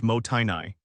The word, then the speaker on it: mottainai: The word is Mottainai, pronounced Mottainai.